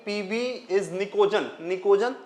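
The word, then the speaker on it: pnictogen: कि पीवी इज निकोजन निकोजन है ना प साइलेंट होता है निकोजन जो होते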